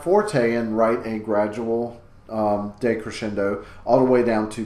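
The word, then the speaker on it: decrescendo: de in front but that de is pronounced day like da Y like have a good day so de crescendo is when the music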